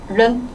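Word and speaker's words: 人: 물어보고 싶을 때 아이 얘는 른 이라고 발음해요. 른 그러면 아이른 니 아이른 하오마 니 아이른 하오마 라고 물어볼 수 있겠죠.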